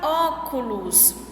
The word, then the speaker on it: óculos: Na palavra óculos, qual é a sílaba tônica da palavra? Óculos, a sílaba tônica é o O. Então, depois do O, tem mais duas sílabas. Óculos. Tem mais duas sílabas depois dela. Então, a sílaba tônica é a antepenúltima.